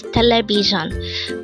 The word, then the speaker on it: 텔레비전: 326 ton again it's teleion this pronounce is a four syllable word the first syllable is tell second syllable is Le third syllable is B and fourth is John ton the word teleion